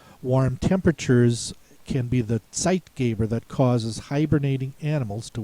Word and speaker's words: Zeitgeber: The rest of the words have TZ sound at the beginning of the word. In that case, the sound is spelled with the letter Z. Zeitgeber is a compound word.